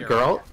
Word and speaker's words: Geralt: I know that one, Geralt, I think that's how you say it, right? Geralt?